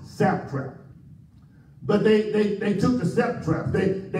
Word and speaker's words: satrap: And I said satrap because they were setting a trap. The word is pronounced satrap.